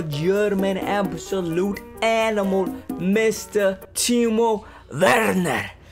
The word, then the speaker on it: Werner: Timo Werner. It's me. Now, I have reviewed him before, and apparently his name is pronounced Werner, not Werner, or is it Werner? Pretty sure the W is like a V.